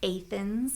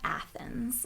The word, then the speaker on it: Athens: and not Versailles, and it's Athens and not Athens, and all these different variations.